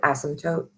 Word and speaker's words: asymptote: asymptote, which is how you say that word, asymptote.